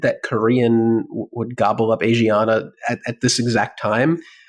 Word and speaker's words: Asiana: me and also not unexpected I don't think Asana am I pronouncing that right have I always been pronouncing it wrong is it Asiana I one would assume okay Asiana uh has been struggling for for years now